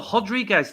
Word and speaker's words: Rodriguez: happened rodriguez is uh are they called the hodriguez didn't they on in the commentary because she's uh brazilian they changed the pronunciation don't they i think